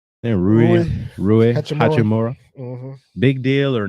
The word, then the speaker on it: Rui Hachimura: Rui Hachimura.